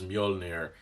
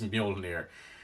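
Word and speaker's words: Mjölnir: of a time before people knew it was Mjolnir, even if that is it. That might have just been what they decided on the day, and now that's it. It's Mjolnir.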